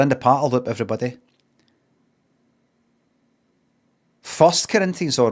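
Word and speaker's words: 1 Corinthians: Did you say one Corinthians? One Corinthians or Corinthians 1, but it's kind of written like that. You don't say it like that. We're in the parl loop. Everybody first Corinthians.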